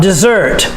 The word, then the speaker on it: dessert: say that properly desert the stress is on the second syllable dessert and the s has the d sound dessert i'm crazy about dessert